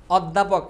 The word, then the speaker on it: অধ্যাপক: তুমি দেখতো তুমি জাস্ট সিম উচ্চারণ করো। তুমি কি বল? অধ্যাপক।